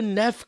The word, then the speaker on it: Neve: Campbell they call her Nev Campbell and that always annoys when people call her neev cell at least I think it's pronounced Neeve but I don't know I've never heard NE Campbell say it what if it is